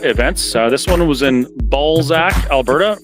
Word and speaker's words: Balzac: This one was in Balzac, Alberta. Make sure you really pronounce the Z in that.